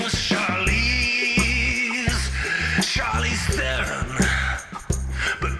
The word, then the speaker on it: Theron: The name was Charlize Theron. But people got unease in pronouncing it, and therein lies the problem of their own. So they say things like Theron, but they're wrong, Charlize, they're wrong, and hence this song.